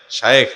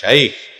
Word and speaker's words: শায়েখ: শায়েখ নাকি শাইখ? ভাইরে শায়েখ শাইখ দুইটার যে কোনো একটা বললেই হয়ে যাবে, আরবির উচ্চারণ বাংলায় হুবহু একেবারে মিলানো যাবে না।